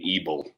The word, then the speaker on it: Ebel: do you pronounce it brandon ebel rhymes rhymes with evil if you if you